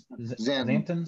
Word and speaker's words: Santon: Am I pronouncing that right? Santon? Yes. Santon. Yep.